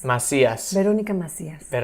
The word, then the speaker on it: Macías: your last name perfectly my name is Veronica Marcia's in Spanish but you can say Veronica asks everybody Veronica Miss America Veronica Veronica hey how do you say the last name again Macias my see us they don't Iike Macias bet only got messy